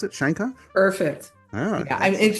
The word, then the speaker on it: Scheinkopf: Is that how you spell pronounce it? Shankoff.